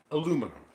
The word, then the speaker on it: aluminum: Aluminum. Aluminum? Yeah. They say aluminium. They even spell it different.